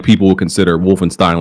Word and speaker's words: Wolfenstein: what they did with Wolfenstein and wolf I always say it wrong Wolfenstein Wolfenstein I always get those confused nonetheless I Ste it is Stein thank you very much Stein Stein uh but the